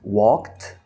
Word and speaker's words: walked: Walked into the restaurant. Aqui esse ED a gente pronuncia com T mesmo, tá? Porque é mais fácil. Walked. Imagina que não tem o ED, imagina que tem um T, tá?